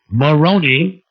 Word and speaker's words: Maroni: yeah guy's name is Joe Maroni rhymes with Bologna he wrote I wanted